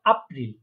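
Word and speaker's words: April: জার্মানে বলবো আপ্রিল, কারণ আমরা জানি এটাকে আ উচ্চারণ হয়। এটাকে বলবো আপ্রিল।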